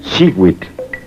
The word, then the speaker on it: Xihuitl: Cada cuadrete contiene el color turquesa, que se pronuncia Xihuitl.